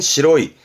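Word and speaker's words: 白い: 이 형용사 발음은 시로이, 시로이, 하얗다의 시로이.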